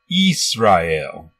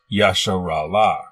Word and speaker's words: Israel: in the Greek Septuagint the name Israel was written like this and is pronounced Easter il it is not Yashiro la nowhere in any ancient